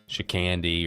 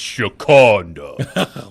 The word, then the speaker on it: Shakonda: Shicandi or Shicanda. And then she pipes up in the back. It's Shakonda.